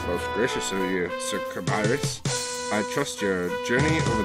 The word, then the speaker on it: Cabirus: From the looks of things, you must be Sir Arthur Cabaris. Indeed, and I must correct you, as the proper pronunciation is kabirus, but fear not.